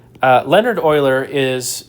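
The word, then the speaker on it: Euler: You pronounce this Oiler. Uh Leonard Oiler is like a top 10 mathematician.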